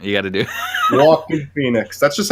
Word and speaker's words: Joaquin: It sounds like his name sounds like the word walking. Like yeah, true. That's the best way to pronounce it. With a Boston accent, you got to do. Joaquin Phoenix.